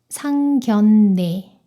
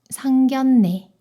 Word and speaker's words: 상견례: 이 단어를 오늘 배운 대로 발음하면 생살량이 되겠죠. 그런데 그게 아니라 리을이 니은 소리로 변해요. 생산량, 생산량. 그리고 이 단어도 상견례, 상견례.